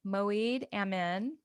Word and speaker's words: Moeed Amin: And today I have a very special guest with me, Moeed Amin. I pronounced that right, correct?